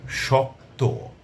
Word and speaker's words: শক্ত: কিছু শব্দের কথা বলছি যেমন ধরুন শক্ত শেষের বর্ণটি সংযুক্ত বর্ণ হয়ে গেল শক্ত যদিও কোন ওকার ছিল না কিন্তু উচ্চারণে আমাদের ওকার আসছে।